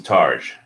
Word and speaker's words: targe: Okay, so it's a targe. Targe. All right, now that we have the pronunciation settled, I should go see if I can find any more badass weapons on that site.